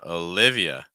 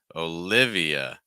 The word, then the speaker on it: Olivia: is Lewis next one Olivia so instead of leave it's more live short ey and then finishing again on a schwas sound uh Olivia Olivia notice that in